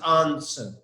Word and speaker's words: answer: W is silent, thank you. Yeah, that's right. That's right. W silent.